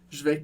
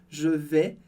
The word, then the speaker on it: vais: não lê também, como je vais. Eu não falo je vais ou je vais, é sem o S do final.